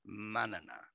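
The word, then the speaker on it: mañana: I got a one word reply in his email, manana, spelled like banana but with an M instead of a B.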